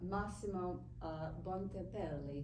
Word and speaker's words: Massimo Bontempelli: Could you pronounce? Oh, yeah, Massimo Bontempelli.